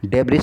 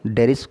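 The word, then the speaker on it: debris: डेब्रिज इसमें लिखा हुआ है, इसको डेब्रिज प्रोनाउंस नहीं करेंगे, इसको डेरीज करेंगे।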